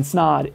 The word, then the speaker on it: Snod: My name is Snod. It rhymes with odd, and I'm out.